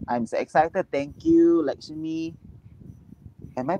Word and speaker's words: Lakshmi: Thank you, Lakshmi. Am I pronouncing the name correctly? Yes, Lakshmi.